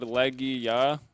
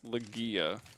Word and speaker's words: Legia: I always said Leia, but apparently it's Legia.